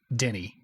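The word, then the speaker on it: Denis: it different V yeah everybody seems to agree though that his first name which is clearly spelled Dennis is Denny I don't know all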